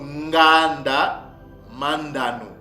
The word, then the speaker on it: Nganda Manda: le ma au milieu donc Nganda Mandan c'est comme ça que ns pères prononcé ce mot là jardin d'Eden veut dire